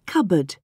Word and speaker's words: cupboard: a k in no can you hear a p in cupboard no i can't no